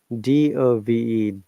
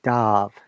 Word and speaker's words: dove: the pronunciation for example look at this word d-o-v-e dove known a dove verb so dope is the past tense of dive like was the word